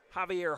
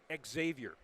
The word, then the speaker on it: Xavier: And then for Berea Mid Park, it's Javier Harden. Actually, you pronounce it Xavier. You pronounce it with the X.